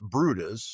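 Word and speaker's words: Bryde's: Now, it's pronounced Brutus, Bru T- Us, or B R E D, but it's spelled brides.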